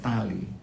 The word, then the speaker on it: Dali: Nah, di situ ada daerah yang namanya Tali. Tulisannya Dali. Saya bacanya Tali.